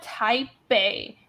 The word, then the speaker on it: Taipei: Taipei is actually a B sound. Taipei. It means Taipei.